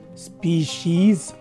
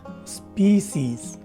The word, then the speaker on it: species: Both are almost identical, and the only thing that makes them different from each other is the H sound that is present in the first variation. And it's very important to note that the spelling and pronunciation for this word is applicable for both its singular and plural forms. So the correct way of saying this word is either species or species.